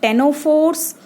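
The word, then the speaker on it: Ctenophora: तो उसमें दो ऑर्गेनिजम्स आते हैं, टेनोफोर्स मतलब दो फाइलम्स आ जाएंगी, टेनोफोर्स, सी साइलेंट है यहाँ पर, टेनोफोरा, और दूसरे हैं सिलेंट्रेट्स।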